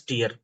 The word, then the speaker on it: tier: That should be pronounced as tier.